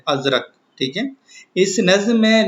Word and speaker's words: ازرق: زردار اور بے زر۔ لفظ ازرق کا درست تلفظ ہے ازرق، ٹھیک ہے۔ اس نظم